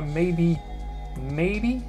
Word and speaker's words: maybe: Alors vous notez bien que quand on emploie maybe, l'accentuation se fait sur la première syllabe, et perhaps se fait sur la seconde syllabe.